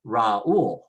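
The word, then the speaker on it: Raúl: Raul, the U is a weak vowel. However, they want you to stress it even though it's a weak vowel, and so we say Raul, Raul.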